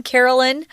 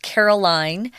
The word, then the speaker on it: Carolyn: two characters this time Carolyn this name can also be pronounced Caroline depends on the family and what they want I'm gonna see Carolyn